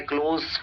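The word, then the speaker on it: close: क्लोज याद रहे क्लोज लेकिन जब आप क्लोज प्रोनाउंस करते हैं क्लोज उसका मतलब होता है करीबी या नजदीकी जैसे ही इज माय क्लोज friend क्लोज नहीं बोलना है उस वक्त क्लोज फ्रेंड लेकिन जब बंद करने के सेंस में बोलते हैं तो क्लोज फ्रेंड उस वक्त ज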